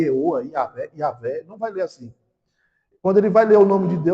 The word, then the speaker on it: Yahvé: Eh, em português tem três maneiras de chamar, de de pronunciar essa palavra senhor aqui. Yahvé, I, A, V, E Yahé.